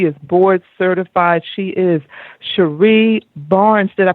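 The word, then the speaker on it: Cherie Barnes: huge that she is board certified she is Sheree Barnes did I pronounce that correctly that's correct all right I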